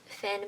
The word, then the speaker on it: Fionn: The brother Fionn, Kane, I think it's pronounced Finn, but I'm calling it Fionn because I have fun. We're gonna go. It's not spelled like Finn though.